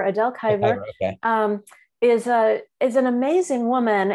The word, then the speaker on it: Kibre: Yes, yeah, so Adele, I think it's pronounced Kiver, Adele Kiver.